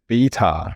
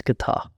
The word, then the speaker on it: Betar: But yeah, it's actually pronounced Betar. Growing up, I used to think my last name was Guitar. I used to walk around saying my last name was like guitar, like the things you do when you're a kid.